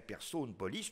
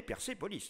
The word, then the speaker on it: Persépolis: Parce que sinon, ce serait Persopolis, Persopolis, tout ce que vous voulez, mais ça ne peut pas donner Persépolis. Le « et » de la deuxième syllabe de Persépolis est nécessairement dû à cette intervention.